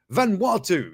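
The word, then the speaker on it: Vanuatu: this is uh van hangi it's sort of pronounce a bit about no watu watu what yeah van watu yeah there you go you can get a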